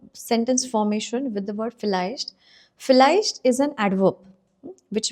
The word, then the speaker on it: vielleicht: So today we are going to talk about this word called vielleicht. Vielleicht. Now vielleicht starts with V, okay? But it is, that's why it is pronounced with first sound, not vielleicht.